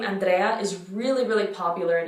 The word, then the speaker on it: Andrea: So it's ah. That's the A sound. Ah. Andrea. So notice how every letter is pronounced. Andrea.